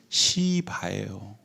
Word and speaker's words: 시바: 그래서 이 사울 왕은 그의 재산을 시종에게 관리를 하게 했는데, 그 시종의 이름이 뭐냐면, 발음을 주의하셔야 돼요. 시바예요.